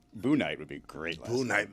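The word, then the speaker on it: Bouknight: It's a very difficult name to figure out how to pronounce because it's B-O-U-K, right? Yeah, and you're like, is it N-I-G-H-T? Boonite? Yeah. Is it Boonite? Is the K silent?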